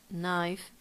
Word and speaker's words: knife: and together like in knife night or neat it happens the same the K is silent yeah it doesn't sound